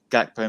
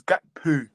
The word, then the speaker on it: Gakpo: Gakpo missed a great chance. Could have been an assist for Salah. You keep saying it wrong. It's Gakpo. Gakpo.